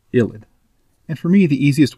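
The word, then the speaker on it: ylide: Y-L-I-D is pronounced ilid.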